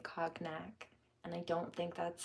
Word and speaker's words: cognac: region of conac yeah see it's softer it's not Cognac that's American mispronunciation it's cognac 1122 it's Brandy to